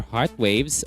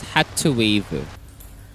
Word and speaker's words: hrtz.wav: This, once again, the official music video for Heart Waves or Hearts Waves 19. On Korean, they pronounce it as Hatsweav. according to Papago.